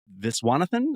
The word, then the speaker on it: Viswanathan: Florence Pew and Geraldine I'm going to say the last name wrong but Viswan Viswanathan I think is how you say her last name who plays her assistant in the film.